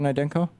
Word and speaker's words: Naidenko: And am I pronouncing your name correctly, Dr. Naidenko?